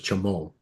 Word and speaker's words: Chimole: That's what they call Pika Deayo in Nicaragua is Chamal. It's spelled the same way. C H I M O L E, but it's pronounced Chamal.